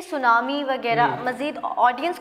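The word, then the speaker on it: tsunami: देखिए जो सादा अल्फाज़ तो ये है कि सुनामी में अक्सर लोग गलती कर जाते हैं कि एस से बोल देते हैं। एस तो है नहीं टी है स्टार्टिंग और टी साइलेंट होता है और सुनामी ये सबसे बेसिक मैंने बता दिया सादा अल्फाज़ में।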